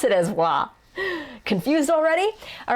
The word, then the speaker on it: は: it is particle law it is pronounced as if there's a w there sometimes depending on how